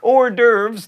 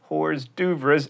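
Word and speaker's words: hors d'oeuvres: like quinoa and kich or derves not hores duas and Penny not pen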